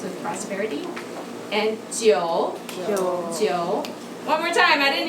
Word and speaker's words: 九: And 九. One more time, I didn't hear that. 九 rhymes with forever.